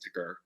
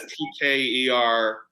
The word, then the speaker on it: TKer: say it but um lately i've been pronouncing it as ticker it started it started as tker but now it's ticker okay ticker editor of